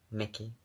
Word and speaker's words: Mickey: Mickey. Like Michelangelo.